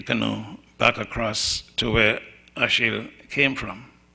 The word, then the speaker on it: Achille: This section then has, what happens is that Achille, which is a French Creole pronunciation of Achilles, goes out fishing, and then he suffers from sunstroke.